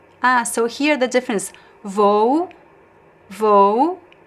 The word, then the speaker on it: vou: So I pronounce the first O as a closed O. And the second one I make it unstressed. Vou. So it goes down, pronounced as U.